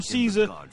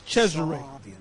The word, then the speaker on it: Cesare: We call him Caesar. The real way to pronounce his name is Cesare.